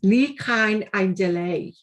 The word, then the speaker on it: Ni Chawn ein Dileu: i'm from liverpool so the way i pronounce it is a challenge to me but i'm going to give it a go it's lee khan and delay and it really is